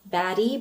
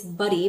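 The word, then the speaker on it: Badi: note about the pronunciation for this mascara because it's spelled B A D I which I foresee a lot of people calling baddy but it's buddy because Kofi is a South Asian brand and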